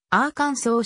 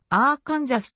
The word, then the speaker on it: Arkansas: あぁカンザス側も綴りは同じくアーカンソーであるしかし常にアーカンソーと発音されるアーカンソー州と違いあーカンザス側はアーカンソーと呼ばれることもあればあーカンザスと発音されることもある特にカンザス州で